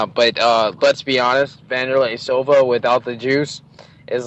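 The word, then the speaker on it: Wanderlei: spell w n d but it's pronounced with a V so you say vanderlay but like his nickname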